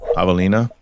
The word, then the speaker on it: javelina: Yeah, it's spelled like javelin, javelina, and they're like these little pig-like animals that travel in packs, and they're super aggressive.